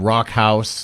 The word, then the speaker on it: Rakkhaus: design um and then Rock House the way it's pronounced obviously is like rock house which speaks more to